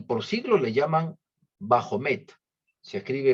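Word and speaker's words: Baphomet: Dios su jefe y por siglos le llaman bajo meta se escribe B a p h o m e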